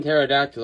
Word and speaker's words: pterodactyl: The P in pterodactyl is silent, but if you hire a guy without a mouth to read your mail, every letter is silent.